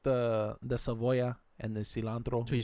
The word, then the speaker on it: cebolla: That's not even how you say it. Cebolla. No, How do you say it? How you say cebolla. That. What the fuck? I just said that. No, your accent, dog. You had to Oh. say the yo.